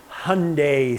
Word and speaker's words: Hyundai: this is a 2003 Hyundai Sonata hey I pronounced it correctly Hyundai Sonata as in so not a good car